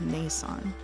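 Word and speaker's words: 姉さん: They also want me to tell you that Nii-san is pronounced Ni-san, and Nee is pronounced Ne-san.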